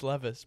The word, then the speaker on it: Levis: It's Levis. Pronounce it right.